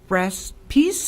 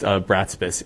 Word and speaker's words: Bratspis: Next speaker will be Andrew Braspies, and if that is incorrectly pronounced, please state your full name. Yeah, it's pronounced Bratspis, Andrew Bratspis.